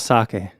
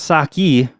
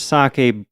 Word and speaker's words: sake: topic of our episode I believe it's pronounced sake oh okay I get it um yeah yeah we're talking about sake not sake not saki sake saki Bob now